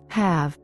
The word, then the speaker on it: have: Слово have является исключением. Оно произносится так, как если бы в нем не было заключительной буквы e.